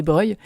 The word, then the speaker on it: Breuil: Et donc, elle m'avait aussi dit, attention, petite erreur de prononciation sur Brolier, c'est pas Brolier, c'est Breuil.